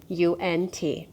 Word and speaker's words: UNT: how to pronounce this i asked the company how to pronounce their name and it is actually unt so mystery solved now